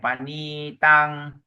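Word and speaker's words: paṇītaṃ: the next line your panitang dia pangil long eye dia panitang panitang panitang yes you have to focus on a long eye and focus on a short a ne te ne te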